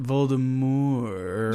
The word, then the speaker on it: Voldemort: to the point where she's like, "Oh, it's pronounced Voldemort."